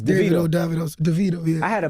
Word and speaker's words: Davido: Like, in the southern part of Africa, they be like Davido. Mm-hmm. But like in the western part, it's like Davido. So, Davido. My real name's David. Okay. So, yeah. It's Davido.